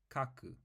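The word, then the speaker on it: 書く: have C and then C these two characters pronounced together are Kaku which means to write here's another example but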